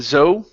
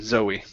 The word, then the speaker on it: Zoe: Yeah, instead of Zoe, okay, it's a name, Zoe.